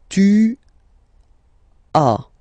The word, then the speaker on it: tu as: Second one, tu as, okay? As usual in French, final S is not pronounced.